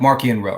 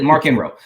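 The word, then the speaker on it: Marchion Ro: with the high republic we have more like marky and row right like mark and rose a character that that um i got to for pronouncing it the way it needs to be pronounced yeah that's mark in row um but you know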